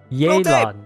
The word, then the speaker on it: Yelan: Yelan, that's how they pronounce it.